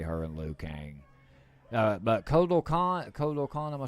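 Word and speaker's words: Kotal Kahn: But Kodo Khan, am I saying it right?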